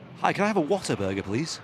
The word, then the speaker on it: Whataburger: I used to think Whataburger was called Waterburger because of the accent. You got to say it like that. Whataburger.